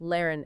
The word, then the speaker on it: lehren: Words like fahren, to drive, pronounced fahren, and lehren, to teach, pronounced lehren, exemplify this.